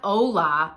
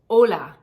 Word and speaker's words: hola: um hello and goodbye it's not hola adios it's ola Ola you see how round that is hola and then